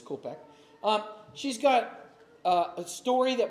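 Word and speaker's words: Koepcke: a look at Julianne Kopka's story, she has a book that she's put out. So there's Vesna we were just talking about. Here's Julianne Kopek. I pronounced her name wrong, but it's Kopek.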